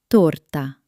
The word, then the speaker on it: torta: Not T with a breath of air, but a clean T. Like in the word torta.